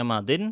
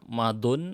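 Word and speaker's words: ماضٍ: Kenapa dibacanya madin kok enggak madun atau madiyun?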